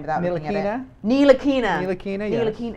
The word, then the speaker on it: Ntilikina: Standing up, I'm never going to be able to Frank pronounce his name without looking at Ntilikina? it. Ntilikina.